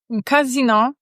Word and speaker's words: casino: Zobacz casino. W ten sposób akcentujemy kasyno. Natomiast casino, un casino.